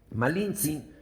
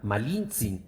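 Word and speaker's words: Malintzin: sus capitanes condenándolo esclavitud los indígenas que no pronunciaban la r La llamaron malinzin nombre que para los oídos españoles se transformó en malinche malinzi hablaba cuatro idiomas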